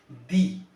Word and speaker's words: the: করছি যে কোনো শব্দ যদি ভাওয়াল বা ভাওয়ালের মতো উচ্চারণ হয়, সেক্ষেত্রে আমরা যদি সেখানে টিএইচই দি থাকে, তো উচ্চারণটা করতে হবে আমাকে সেখানে কিন্তু দি, দি আউল, দি অ্যাপেল, দি আইসক্রিম। আর যদি কোনো শব্দ কনসোনেন্ট বা কনসোনেন্টের মতো সাউন্ড আসে, সেক্ষেত্রে আমাদের উচ্চারণটা করতে হবে, দি এর উচ্চারণটা টিএইচই এর উচ্চারণটা করতে হবে দা, দা ক্যাট, দা ব্যাট, দা বল।